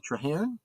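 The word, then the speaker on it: Traherne: rod and alen um TR how is that pronounced trar t r a h r n trar yes yes thank you very much in his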